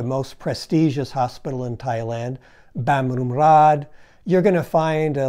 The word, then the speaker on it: Bumrungrad: because they don't look anything like you would pronounce them. For example, the hospital I just mentioned, Westerners always say Bumrungrad, which is fine with a Westerner, but if